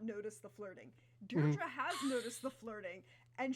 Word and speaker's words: Deirdre: It was Deirdre, correct? Yay. You said it right, don't worry. I understand it's a little bit difficult, it's not in English, but you said it correctly.